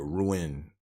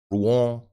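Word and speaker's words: Rouen: to uh Ruan like At first I was pronouncing it ruin it's not ruin and it's it's pronounced Rong or some people just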